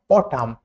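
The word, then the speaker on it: autumn: Silent N, ওয়ার্ডের শেষে এম এর পরে, ওয়ার্ডের শেষে এম এর পরে, যেমন অটাম, কলাম। এম এবং এন একসাথে যোগ হলে কলাম, কলাম, অটাম। এনটা সবসময় সাইলেন্ট থাকে।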